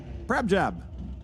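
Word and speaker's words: Prabhjap: Prabjab.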